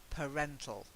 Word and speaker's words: parental: major parts actually change so we've got parent that's parent with the air sound and then per parental okay okay Paran parental yeah